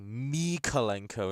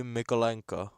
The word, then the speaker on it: Mykolenko: ekes me out that when they say Mikolenko instead of Mikolenko. because every single time I've heard him say his name, it's always been Vitaly Mykolenko. It's never been Mikolenko, it's been Mykolenko.